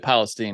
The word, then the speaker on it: Palestine: ah can you imagine there's a place in Ohio called East Palestine they say they pronounce it Palestine apparently foreign that's what we